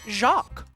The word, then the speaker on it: Jacques: called as i called it as a kid jacquise but as i understand that's not how that name is actually pronounced but i'm gonna give a shout out